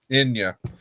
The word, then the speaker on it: Enya: Oh gosh, how do you pronounce her name? Anya or something like that. Caribbean Enya. Blue. Enya.